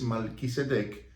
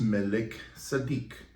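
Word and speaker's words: Melquisedec: Estuvieron de Shem y se referían a Shem como Malquisedec, lo cual está mal pronunciado porque no es Malquisedec, pero sí es Melech Sadik, ¿okay?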